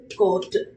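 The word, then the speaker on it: guard: க ஓ இர்ட் கோர்ட் க ஓ இர்ட் கோர்ட் you sound இங்க கே்கறது கிடையாது. யூக்கு முன்னாடி என்ன இருக்கு ஒரு வவல் இருக்கு. முன்னாடியோ பின்னாடியோ யூ ஒரு வவலோட சேர்ந்து வரும்போது அங்க யூ சைலன்ட் ஓகேங்களா? யூ க்கு முன்னாடி ஒரு வவல் இருக்கு இல்லையா? சோ அதனால யூ சைலன்ட் க ஓ இர்ட் கோர்ட்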